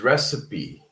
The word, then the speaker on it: recipe: I'm not sure why, but The correct pronunciation is recipe, right? So it's not just recipe, it's actually recipe, okay? Recipe. So this also has three syllables. Recipe.